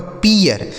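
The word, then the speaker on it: peer: यह लिखा गया आपका पियर, पी डबल ई आर पियर।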